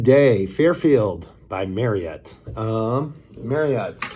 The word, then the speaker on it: Marriott: fairfield by marriott um marriott rhymes with chariot if you want to say it properly uh but everybody just calls it marriott um fairfield is one